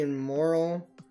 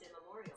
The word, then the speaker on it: immemorial: Since the immoral I guess, is there only 28 levels? Since the immoral of rare. Hey Google, how do you pronounce immoral? That's pronounced immemorial.